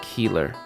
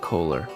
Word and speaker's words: Keeler: Just a quick note, the poem that I read about 2230 in, that's by Greg Keeler, not Kohler. I pronounced it wrong.